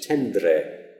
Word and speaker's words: tendre: got some examples here tender which is tendre tendre or young is younger